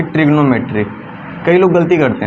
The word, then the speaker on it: trigonometry: लिखा है ना कि ट्रिग्नोमेट्री। कई लोग गलती करते हैं, है ना। ये ट्रिग्नोमेट्री नहीं है, ये ट्रिगोनोमेट्री है।